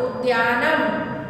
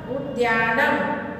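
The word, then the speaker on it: उद्यानम्: नहीं पढ़ना है उद्यानम द एक संयुक्त है दैट्स व्हाई यू प्रोनाउंस उद्यानम उद्यानम उत्तमम उत्तमम में भी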